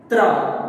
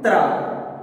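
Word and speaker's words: त्र: Tra. Once observe pronouncing Tra. Ta, Ra. Now, we will write those two letters. Ta plus Ra is equals to Tra.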